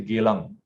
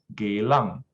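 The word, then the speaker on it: Geylang: do i stay then i'll say geelang and say very properly the pro correct pronunciation is gaelang yeah but of course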